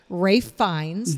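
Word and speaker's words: Ralph Fiennes: plot twists people it's the menu so good Ray finds that's how that's pronounced who uh these are characters you the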